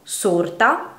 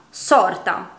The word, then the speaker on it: sorta: Sorta, sorta. Queste parole sono dunque uguali nella scrittura ma ben diverse nel significato e grazie alla pronuncia differente della loro E o della loro O le possiamo distinguere.